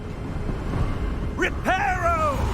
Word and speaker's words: Reparo: Reparo! That's a very American way of pronouncing it.